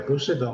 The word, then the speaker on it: Poseidon: ira de Poseidon, né, que é o deus, Poseidon a pronúncia, né, que é o deus dos mares,